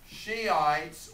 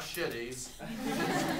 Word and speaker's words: Shiites: h i t s be careful in the pronunciation okay it's not shitties shot okay they take